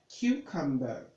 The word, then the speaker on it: cucumber: means that you need to learn the correct pronunciation now this becomes Q they see this there u q you get that cucumber cucumber cucumber the next you have in your